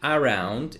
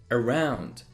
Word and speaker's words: around: not very strongly pronounced the next one is not around it's around around i quickly jump over that one